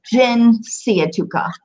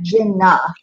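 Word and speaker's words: جنسيتك: It's, the first syllable is jin siya tuka. Jin. Jin. Or not jinna. It's jin.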